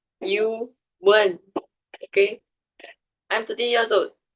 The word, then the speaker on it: Ewan: is Yuan, which is spelled EWAN and pronounced Yuan.